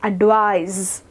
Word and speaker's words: advise: And when we say advice which ends in SE, we will pronounce it as advise.